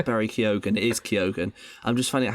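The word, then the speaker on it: Keoghan: sorry I'm just I found out how to pronounce Barry kogen it is kogan I'm just finding out how you pronounced Jacob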